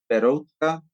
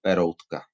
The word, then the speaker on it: Peroutka: When I pronounce it Czech, it sounds slightly different. But I think in English, Peroutka, that's the name I usually pronounce.